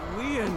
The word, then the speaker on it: Lien: breaking this little franken you idiots my name leon is spelled l-i-e-n in french leon means bond just